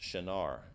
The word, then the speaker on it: Shinar: a translation of a word that usually is pronounced Shinar, and that's like if you have a King James Bible, it'll say Shinar.